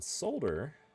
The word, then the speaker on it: solder: iron so we then solder because again that's not solder there is an l s-o-l-d-e-r not s-o-d-e-r sod like the grass it's sold er so i know some